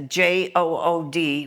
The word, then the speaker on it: Jood: And the Dutch had the J-O-O-D, which is pronounced Jood, which means Jew in Dutch.